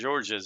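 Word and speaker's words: Georges: time so I mean I remember George georgees it was spelled with an S right but it was pronounced George yeah yeah it was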